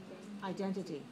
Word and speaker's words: identity: Identity. 4 syllables, stress on the second. Identity.